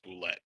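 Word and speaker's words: bulette: Boulet. It's not French. It's not boulette. My one It's a true boulet.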